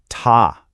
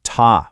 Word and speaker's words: 他: It creates the character ta. It's pronounced ta with a high flat tone.